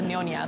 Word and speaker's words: Nyonya: So it's and then it were pronounced as a Nyonya.